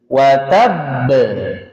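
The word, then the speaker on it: وَتَبَّ: Di surat Alahab ayat pertama, mantulnya tidak langsung dipantulkan karena ada tasdid sehingga mantulnya tertahan terlebih dahulu. Watab. Watabb itu di ayat pertama.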